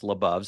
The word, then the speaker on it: LaBov: have gone labove and Beyond which helps people pronounce labove so it's labove and Beyond which is awesome our slogan is